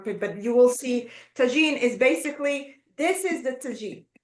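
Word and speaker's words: tajine: and the what about Tajin is that how you pronounce it yeah yeah this is Tajin okay because couscous is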